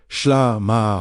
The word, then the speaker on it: shlama: The word shlama, pronounced shlama, wholeness, completeness, harmony with G O D reaches far beyond our modern idea of peace.